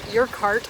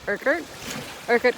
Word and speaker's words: Urquhart: It's not your cart as I was originally saying, or Urquhart, I think I said it once. It's Urquhart Castle, and no sign of Nessie, guys.